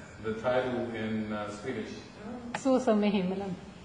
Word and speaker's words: Så som i himmelen: How do you pronounce the title in Swedish? Så som I himmelen. Say it again. Så som I himmelen.